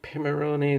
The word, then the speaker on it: Pimoroni: I always thought it was Pimoroni, but it's pronounced Pimoroni.